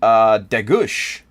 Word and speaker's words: Degger: It's North American pronunciation, but if you want to say the real way, not the way anyone in my family says it, degush.